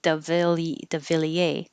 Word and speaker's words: de Villiers: But getting closer to the French would be de Villiers.